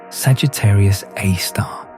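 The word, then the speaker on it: Sagittarius A*: The supermassive black hole at the center of our own galaxy, located in the direction of the constellation Sagittarius, is called Sagittarius A, pronounced Sagittarius A star.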